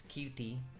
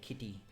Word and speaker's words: Kirti: they would say, like, I would say it's Kirti, and the Kirti is the proper pronunciation of my name, and they would end up saying Kitty because they can't say R, and then I become